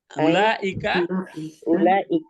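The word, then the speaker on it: أولئك: Ulaikal katimuna. Ya, ulaikal katimuna. Ikhtiar. Langsung aja baca. Ulaika langsung bacanya. Ulaikal katimuna. Jangan nal. Ulaika katimunah.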